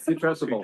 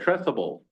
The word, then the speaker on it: putrescible: Putress, how do you say? Putrescible. Putrescible. Putrescible, Sounds like putrid, yeah.